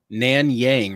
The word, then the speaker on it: Nanyang: two pounder i think we spelled it wrong nan yang right like i know that's how you say it but that's how you spell it n-a-n-y-a-n-g yeah it pulls up that just